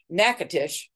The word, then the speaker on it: Natchitoches: at Melrose Plantation and that's Natchitoches which is she pronounced it nakatish the oldest town in Louisiana and that was established in 1714.